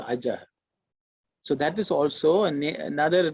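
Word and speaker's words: अजः: okay, not correct, because the colon is actually air going out. It's an echo of the a.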